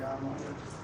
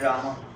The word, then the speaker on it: Rama: Generally the word is Rama, but then it is sometimes Ram. Like in addressing, it is sometimes pronounced as Ram. Ram. Either way, it's all right. You see, like there is no hard and fast.